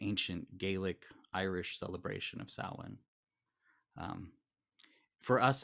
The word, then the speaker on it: Samhain: holiday that we call Samhain. It's pronounced a little differently than it's spelled, thanks to the Gaelic roots.